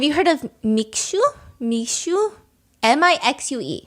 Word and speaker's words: Mixue: M-I-X-U-E. How do you pronounce that?